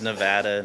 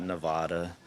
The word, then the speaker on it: Nevada: but it is Nevada, not Nevada.